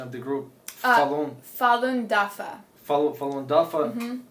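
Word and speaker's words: Falun Dafa: this group it's um could you say correct pronunciation of the Groupon Fallon dafa Fallon dafa it's it's it's a severely persecuted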